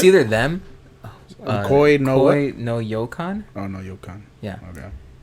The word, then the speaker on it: Koi no Yokan: How do you pronounce so it's it? either them. Koi no what? Koi no Yokan.